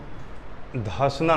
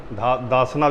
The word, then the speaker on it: धसना: एक नदी निकली है ऐसे इसको कहते हैं धसना नदी दसना भी कहते हैं कहीं कहीं इसको स्पेलिंग है डी एच ए एस ए एन ए धसना नदी दसना भी